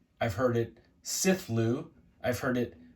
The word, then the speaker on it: Cthulhu: um I have heard the name of this monster pronounced the way that I say it Cthulhu I've heard it called kef Lou I've heard it siflu I've heard it katulu I've heard it um uh let's see how